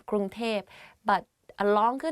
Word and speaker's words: กรุงเทพ: กรุงเทพมหานคร Bangkok กรุงเทพมหานคร If you go to Thailand and you hear people talk about Bangkok, they will say กรุงเทพ because like conversation wise it's easier to pronounce like that กรุงเทพ but a longer name